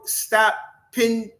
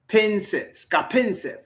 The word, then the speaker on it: Skapintsev: Stapnitsev. How do you say that? Can you stop? Dimitro. What's his name? Dimitro Stapintsev. Dimitro Stapintsev. Thank you, speak. Skapintsev. Oh, okay. Thank you. I appreciate that. Skapintsev. Skapintsev. Yeah.